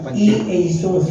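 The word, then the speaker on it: Ἰησοῦς: ayanasa dito e Asus e Asus sa Grego yan pronunciation talaga niyan e Asus kasi wala namang letter J wala sa Greek sa Jew ano sa Greek alphabet walang letter J so e Asus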